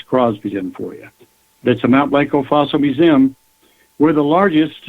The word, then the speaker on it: Mount Blanco: We pronounce it Mount Blanco. If you're really doing Spanish, you call it Monte Blanco.